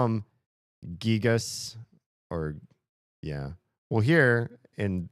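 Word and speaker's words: Giygas: I would trust that it's probably supposed to sound more like gigas than gigas just based on the gigu because they if they wanted it to sound more like guy they would have done a ga character instead of a gee character gu gigu but they called it gigu. So I think it should be gigas.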